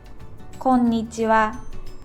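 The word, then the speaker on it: こんにちは: When you pronounce it, please pronounce n sound and ni sound separately. こんにちは not こんにちは Okay?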